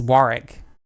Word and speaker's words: Warwick: up for a while asking us where Warwick Castle is is wari called wari Castle get it right say about the horal